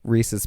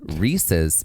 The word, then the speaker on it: Reese's: Which should now inform you how a Reese's peanut butter cup is pronounced, and it is Reese's, not Reese's.